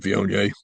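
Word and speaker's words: Viognier: It's ganache blanc roan and vion. Um vion by the way is spelled v i o g n i e r.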